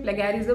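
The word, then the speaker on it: plagiarism: कुछ लोग प्लेजरिज्म बोलते हैं, कुछ लोग प्लेगैरिज्म बोलते हैं, तो आप प्रोनाउंसिएशन मत कंफ्यूज होना।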